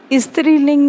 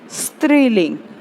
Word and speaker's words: स्त्रीलिंग: स्त्रीलिंग नहीं, स्त्रीलिंग। ध्यान रखें, उच्चारण आपका शुद्ध होना चाहिए।